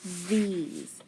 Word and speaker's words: these: do you hear first that's right it's that th the e long e then s and for this to be a long e it's got to be a sneaky e at the end these all right what